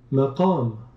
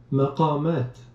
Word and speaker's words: maqam: You can also hear how they're set, you can also pronunciation. Maqam. Maqamat.